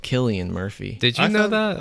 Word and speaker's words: Cillian: his name right so i've always said silly and murphy and i guess it's killian murphy i'm gonna just call